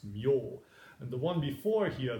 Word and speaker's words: 命: And shimyo, well, this character means life, and normally it's pronounced me, but in the Buddhist texts it's pronounced myo.